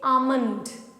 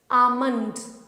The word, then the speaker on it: almond: Here the L is silent. So when you pronounce it, you say it almond, almond. It's not almond, but almond.